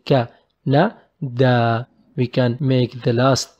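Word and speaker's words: كندا: But here we just pronounce it short ka and short na and long da.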